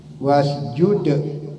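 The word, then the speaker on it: واسجد: Ya itu memang harus keluar, bukannya karena dikeluarkan, hukumnya memang begitu ya. Wasjud, d-nya keluarkan. Wasjud waqtarib ya. Nah itu cara membacanya yang Insyaallah yang benar menurut tajwidnya.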